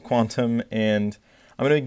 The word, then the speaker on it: Qtum: This time on Qtum, which is spelled Qtum, but I'm pretty sure it's pronounced Quantum, and I'm going to